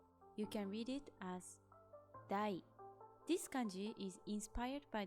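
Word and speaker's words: 大: You can read it as dai.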